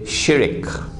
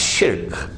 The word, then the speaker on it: shirk: The Malays say shirik. Please change your pronunciation. It's shirk.